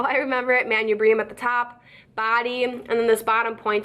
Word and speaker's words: manubrium: is called the manubrium manipura mind if I say it but I say manubrium that helps me spell it but the manubrium I